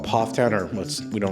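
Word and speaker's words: Pfafftown: pronouncing it correctly but from what I've hear other people say it's PFF Town not paaf town and the reason I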